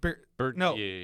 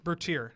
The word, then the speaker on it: Bertier: Bertier. Bertier? Bertier.